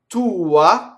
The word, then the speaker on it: tua: Tua. Again, we have a possessive pronoun, right? And again, it's the same, right? As suo, tua, right? We linger on the U.